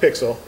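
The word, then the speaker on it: PyXLL: It's P-Y-X-L-L, it's pronounced Pixel.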